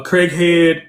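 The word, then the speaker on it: Craighead: District 36 covers parts of um Craig Head, Mississippi, and Point Set County. Did I pronounce those names right? So it's changed. It's been kind of jerended. So it is uh Craig Head and um Point Set.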